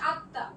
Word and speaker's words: আত্মা: ফারস্টে সরে আই হবে তারপরে হচ্ছে তোমার ত এখানে থেমে গেছে হসন্ত তারপরে ত আকার মানে তত উচ্চারণ হবে প্লাস একটা চন্দ্রবিন্দু হবে যদি তোমার মফলা